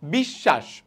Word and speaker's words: বিশ্বাস: কি রকম, যেমন বিশ্বাস, ঠিক আছে, বফলা কোথায়, তালবস্যর সাথে আছে না, তালবস্যের কি দুইবার উচ্চারণ হলো, বিশ্বাস, হ্যাঁ, এই দেখো বিশ্বাস।